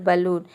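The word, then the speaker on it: balloon: बलून में आप देख सकते हैं ए के बाद डबल एल आया है, लेकिन फिर भी हम यहाँ पे ए को अ प्रोनाउंस करते हैं, तभी इसका प्रोनाउंसिएशन होता है बलून यानी कि गुब्बारा।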